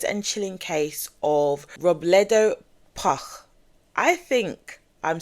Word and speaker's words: Puch: chilling case of Robbleto Puck. I think I'm saying it right. P U C H is how his name is pronounced. Robto Puck.